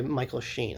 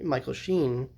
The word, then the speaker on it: Michael Sheen: malcolm was played by michael shane i'm like and she michael sheen the i could say his name right you might recognize that